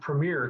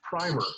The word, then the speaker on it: primer: Um Dale Dale u of course I want to pronounce it premiere because that's what it looks like but it's primer um Dale says you